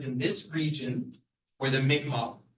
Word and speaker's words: Mi'kmaq: But we do land acknowledgements, and the people generally, the people who lived in this region were the Mi'kmaq. It's written Micmac, but it's pronounced Mi'kmaq people, and that is the First Nations of the region.